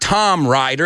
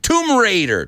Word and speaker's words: Tomb Raider: god they ruined it it's not Tom Rider it's tumor Tomb Raider Tomb Raider and there's another silent B autre Bay Musa write tomb say it with me say it right Tomb Raider Tomb Raider not Tom writer Tom rider sounds like